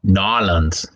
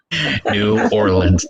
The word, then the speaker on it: New Orleans: just laid off, that lives there now, says Nolans. Nolans. That's right, Nolans. Nolans. That's right. I'm Nolans. sorry, I didn't pronounce that right. I'm sorry. New Orleans.